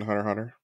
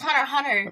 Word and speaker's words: Hunter x Hunter: It's Hunter x Hunter. Excuse me. Oh, do you pronounce the X? Everybody, oh, he said the X.